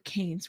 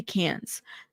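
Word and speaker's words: Cannes: Um, it's in France. It's Cans just like Cams.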